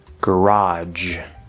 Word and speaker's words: garage: a word beige mirage garage note that garage can also be pronounced garage with a j sound if you're familiar with the pronunciation garage that is a british pronunciation not an american pronunciation and now let's finish